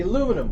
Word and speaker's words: aluminium: You say aluminum, we say aluminium.